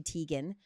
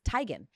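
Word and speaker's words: Teigen: saying this years ago it's not Teegan who's married to John Legend it's tigan but same thing she was like everyone just said it wrong and it just kind of became my name so I just went with it I'm learning so much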